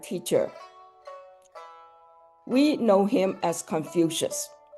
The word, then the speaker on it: Confucius: It comes from pronouncing Master Keng really fast. So Confucius, you say it really fast, Confucius sounded like Confucius to the Jesuits who were in China in the 16th century.